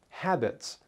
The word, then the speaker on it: habits: You pronounce the second word, habits, which ends with the S sound.